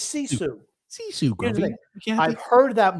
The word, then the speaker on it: sisu: It's not Susie. It's Sisu.